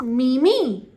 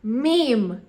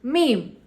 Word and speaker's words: meme: properly Wednesday correct did you see the latest Mimi uhuh it is not Mimi it is did you see the latest meme did you see the latest meme so guys I hope you understood the correct